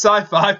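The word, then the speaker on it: Syfy: It's still pronounced sci-fi, but it's spelled Sippy.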